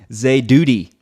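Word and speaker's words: זדודי: Okay, it's a long O class vowel. Okay, this is a holem vav right here. It's not duty.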